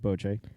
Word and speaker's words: bocce: boche it's a game sometimes pronounced bocce ball ball but it's really pronounced boce oh my god it's